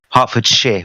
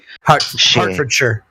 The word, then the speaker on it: Hertfordshire: think Hartford share with me name Hartford share say sure again Hertfordshire the moment I said Shire I said oh my God I said it wrong what am I doing